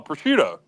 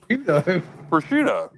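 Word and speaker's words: prosciutto: Oh, pushcuto. Pushcido. Cars. How do you say pushcuto? Am I saying pushcido incorrectly? I think you said it right. I think you said it good. That's what I think.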